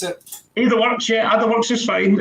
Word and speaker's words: AdaWorks: Is that how you pronounce it? AdaWorks, yeah, AdaWorks is fine.